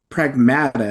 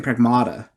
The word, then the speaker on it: Pragmata: Is uh it's Pragmata is how it's pronounced. So, forgive me cuz I keep saying Pragmata.